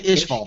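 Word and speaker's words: Ishgar: in ish ishall yes cuz I just want to say ishall for some reason it's spelled the same way just with a G so ish there are about 500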